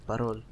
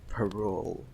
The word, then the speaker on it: Parol: Okay, just say pa with a strong P sound. So, pa, and then rol. Just say that quickly. So, rol. Okay, good. Now say parol.